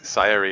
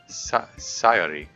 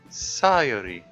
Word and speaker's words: Sayori: in Japanese it's uh like sayary is still a sort of anglicized pronunciation it's not really an i in there it's more of an ah sound that then that then goes to the yo sound sayori sayori and you